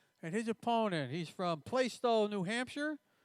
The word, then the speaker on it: Plaistow: Is that how you pronounce it? Plaistow.